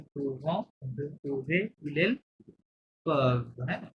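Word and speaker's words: peuvent: vous pouvez, il, elle, curve, হ্যাঁ ওয়েনতে কিন্তু silent, ইলেল curve এমন সাউন্ড করতে পারবে।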